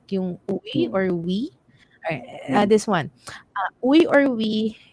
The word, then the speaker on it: Uy: In the province, we prefer we than uy. Kasi, especially I really don't like uy. Masyado ako nabully ng uy. Uy! Ayan. So, diba? Careful. Ask first kung uy o we ang gusto niyang pronunciation.